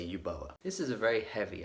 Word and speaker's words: Uboa: under the name of you boa you bow I think is that's how you say it I've been told